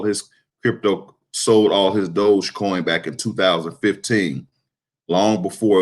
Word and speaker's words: Dogecoin: to move on to dogecoin it's spelled d-o-g-e coin so it's not dodge coin it's doge coin dogecoin has been absolutely